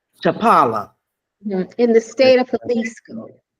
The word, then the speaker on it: Chapala: How you pronounce it? Chapala. Chapala.